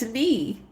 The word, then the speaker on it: knee: And it's knee. The K is silent.